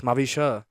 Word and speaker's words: Mavisha: It's Mavisha. Mavisha. Yeah. Mavisha. Yeah. Like UH, not A.